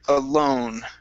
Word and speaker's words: alone: go to the word alone right here um instead of Al it's O alo alone alone okay good good uh